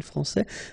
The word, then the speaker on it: France: France and Fran because we don't pronounce the final s in France and it's exactly the